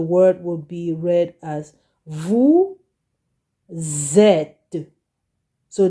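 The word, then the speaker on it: vous êtes: would be read as Vu zet so the S here becomes a z Vu zet okay you got it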